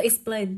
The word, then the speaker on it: explain: Như vậy thì với cái từ, với từ explain, trọng âm sẽ rơi vào plain âm tiết thứ hai của từ.